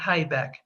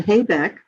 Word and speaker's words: Haibeck: H-A-I, B as in boy, E-C-K, Haibeck. Okay, so don't make the mistake that I've made and call her Susan Haibeck, because that's not the correct pronunciation of her name.